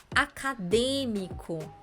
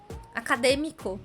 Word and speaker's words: acadêmico: circunflexo mais dois exemplos acadêmico acadêmico já é uma palavra com mais sílabas acadêmico cinco sílabas Mas você se lembra que a gente conta de trás para frente e contando de trás para frente D é a anti penúltima é a mais forte acento circunflexo porque é